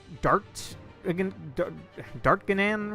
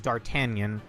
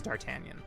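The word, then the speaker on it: D'Artagnan: I never knew how to pronounce this. I always pronounced it as Dart Dart Ganan or some like that. In Taku Yasugi's videos, he pronounced it as Dartanion.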